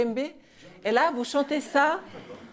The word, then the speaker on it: Lembe: Des amis proches, au bout d'un an, ils disaient Lambé, ils ne pouvaient pas prononcer le Lembé.